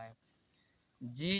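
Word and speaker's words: hedge: अब हम लोग डी साइलेंट देखते हैं कब होता है। जी जो है, जी से पहले यदि डी आता है तो डी साइलेंट होता है।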